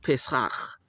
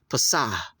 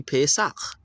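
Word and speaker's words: פסח: Pesach. So you're not supposed to pronounce that as a pasah. That dot underneath a H for the Hebrew transliteration is always a guttural sound. So it should be Pesach.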